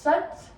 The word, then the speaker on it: sat: So protruding that belly button out as you was wearing our sat, kind of pronounced sut, S-U-T sound almost in the English language.